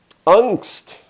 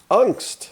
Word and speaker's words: Angst: Angst. Angst. Well, there is a word that we use sometimes. We talk about people who have angst. And they usually pronounce it a little bit differently.